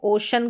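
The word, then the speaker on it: ocean: ओशियन ओ ओशियन इसको जो सही उच्चारण है वह ओशन करके पढ़ेंगे। वैसे आप ज्यादातर शयन शियन करके उच्चारण आपको सुनाई देगा। तो वो भी गलत नहीं है।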